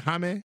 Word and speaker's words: Jaime: That's how you say it, Jaime. Not gonna say Jamie.